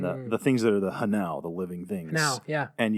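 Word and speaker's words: Hnau: Do you think it's a coincidence that Hanau rhymes with Tau?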